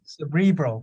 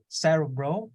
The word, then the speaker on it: cerebral: about what it means I want you to pronounce the word bro yeah cerebral right cerebral uh cerebral palsies yeah so the emphasis is in the middle okay so you know you could say Sarah bro or cerebral right it sounds very